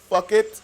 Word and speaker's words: PHUCKET: The fifth event is Fuck It. It's spelled, don't demonetize me. It's spelled PHUCKET.